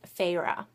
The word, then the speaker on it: Feyre: Court of Thorns and Roses follows a 19-year-old huntress, and her name is Feyre. And I'm glad that Sarah J. Maas thought to put a pronunciation guide in the back of this first